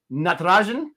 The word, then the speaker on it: Natarajan: overseas players the problem i went with uh natarajan and that's how you say it third like